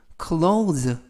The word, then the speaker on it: clothes: The closet, 벽장을 with 하면 뭐뭐와 함께, 즉 뭐뭐로, new clothes, 새로운 옷으로. 이때 발음에 유의하실 것은 clothes, THES가 동시에 발음이 돼서 의미는 옷이라는 뜻이고요. 그래서 이때 오도 발음이 오우, 그래서 clothes라고 발음하시면 되겠습니다.